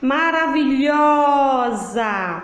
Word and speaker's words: maravilhosa: Maravilhosa. Lhosa. Qual foi a sílaba que eu demorei mais? Lhó. Então, lhó é a sílaba tônica.